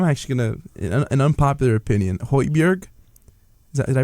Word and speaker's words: Højbjerg: Højbjerg. Did I pronounce that name right? Yeah. Højbjerg.